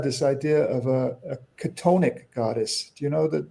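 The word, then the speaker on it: chthonic: So, well, it's it's spelled funny. It's spelled C H T O N I C. Katonic.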